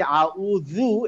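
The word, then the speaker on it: أعوذ: আমাদের মনে রাখতে হবে এই আউযু, এটা উচ্চারণ হবে হচ্ছে জিভটা দাঁতের মাথায় লাগবে। হ্যাঁ, জিভটা দাঁতের মাথায়, নট তার গোড়ায়।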